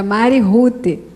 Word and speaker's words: Rute: Então é um nome americano, escreve Mary Ruth. Né? Deveria ser, então, Mary Ruth, a pronúncia do Mary Ruth. Mas aí ele escreveu Mari, com Y, e o Ruth é R-U-T-E. Então ficou um nome meio estranho, né?